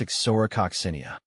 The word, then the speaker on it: Ixora coccinea: It's pronounced as Ixora, Coccinea. Emphasize the or in Ixora and the sin in coccinea for clarity.